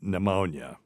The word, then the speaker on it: pneumonia: good one too so it's just a silent p and it's because the Greek had it and we don't we